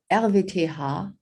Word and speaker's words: RWTH: technical university of aachen let's see rwth the el vete ha as i would pronounce it is one of the few universities